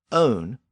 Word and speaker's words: one: happened actually did happen the word one was pronounced own shortly after the great